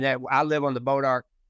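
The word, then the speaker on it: Bois d'Arc: all right kind like bodar it's get it spelled weird but pronounced different yeah so before we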